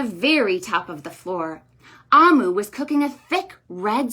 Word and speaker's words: Omu: here it says note to the reader it's pronounced amu and it's from nigeria but in this book